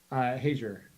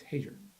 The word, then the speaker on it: Hager: It's Hager. It's phonetic, just as it's spelled.